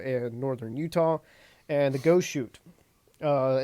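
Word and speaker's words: Goshute: I was going to say is sounds like you were saying shony and now you just said ghost route. No, go shoot.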